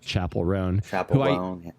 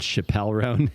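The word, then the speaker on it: Chappell Roan: then I feel like Chapel Roan, who I called Chappelle Roan until I heard somebody else say her name.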